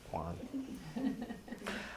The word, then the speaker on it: Juan: a name yeah okay very very much like John it's Juan um so you guys could tell that joke Juan um but it kind